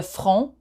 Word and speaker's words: front: So you don't pronounce the T. Le front.